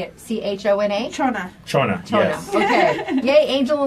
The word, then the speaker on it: Chona: C-H-O-N-A?